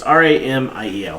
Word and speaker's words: Ramiel: It's R-A-M-I-E-L.